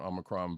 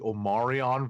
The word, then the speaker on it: Omicron: I'm glad that Roddykat pronounced it correctly and did not call it the Omarion variant, because one of the